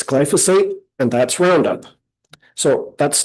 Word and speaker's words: glyphosate: And the presenter said, "Glyophate." That's not how you say it. It's glyphosate and that's Roundup.